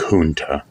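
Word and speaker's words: Junto: debating Club in Philadelphia well it's spelled j-u-n-t-o and it looks like Junta and that's how you say that so we're keeping it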